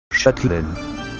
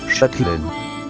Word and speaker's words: Châtelaine: Observemos pues cómo suena Chatelaine en francés. Châtelaine. Châtelaine. Châtelaine. Como podemos apreciar, es prácticamente idéntica a la pronunciación de la palabra catalán en su denominación actual que la misma palabra castellana pronunciada en francés.